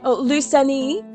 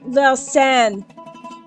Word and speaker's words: Lausanne: allies and Mustafa in Lusani, I don't know how to pronounce that, Switzerland. Lusani, Switzerland. This treaty is known as the Treaty of Lusani, or Lucerne. Okay, so my bad, it's pronounced Lausanne.